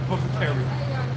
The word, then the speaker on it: apothecary: with medicine, the apothecary, that's the way you pronounce it, apothecary, all right?